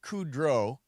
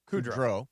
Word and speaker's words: Kudrow: So Lisa Kudrow, I think that's the way you're supposed to pronounce it. Kudrow? Lisa Kudrow. Yeah. Well, you're putting the emphasis on Kudrow.